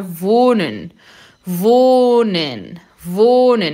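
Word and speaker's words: wohnen: vou nem vou nem nesse H é mudo e ele é longo o que vai ficar voo né vou né o h no final da sílaba ele tem a função de alongar alongar a vogal anterior não vou nem namorar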